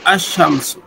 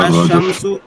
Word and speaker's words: الشمس: الف لام جب ایسے لفظ پر داخل ہو جس کا پہلا حرف شمسی ہو تو الف لام، ال کا لام حرف شمسی میں مدغم ہو جاتا ہے، یعنی تلفظ کے وقت لام کے بجائے حرف شمسی ہی کا تلفظ ہوتا ہے. ایسی صورت میں لام پر جزم نہیں لکھی جاتی بلکہ حرف شمسی پر تشدید لکھی جاتی ہے. جیسے الشمس، الرجل.